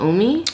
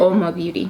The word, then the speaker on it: Oma Beauty: What is this, the Omi? That's how you pronounce it? Oma Beauty.